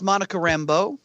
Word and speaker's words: Monica Rambeau: And Murray, it's pronounced Monica Rambeau.